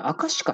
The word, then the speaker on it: 赤鹿: これ、赤鹿さんと読むんですね。